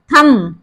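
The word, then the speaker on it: thumb: एम तक आता है बी हमारा यहां पर साइलेंट है क्यों है क्योंकि बी से पहले हमारा एम आ गया है थम थम बोलते हैं थम नहीं बोलते हैं थम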